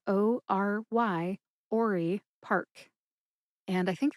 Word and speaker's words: Ory: That's spelled O-R-Y, Ory Park.